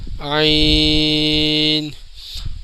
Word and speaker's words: عین: طوا، ضوا، عین۔ ناظرین عین کی آواز کے آخر میں نون کی آواز نکلے گی، اس کا صحیح تلفظ یہ ہے عین، اور جبکہ غین، غین